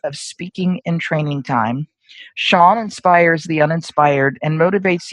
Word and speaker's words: Sean: His name is Sean, and the spelling of his first name is S-E-A-N. It's pronounced Sean.